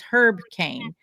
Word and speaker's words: Caen: And his name was Herb Cain, and it's spelled the same way, Caen or something like that.